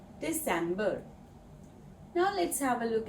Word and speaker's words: Dezember: And Dezember has a S sound in the middle. Dezember Now, let's have a look at some useful phrases.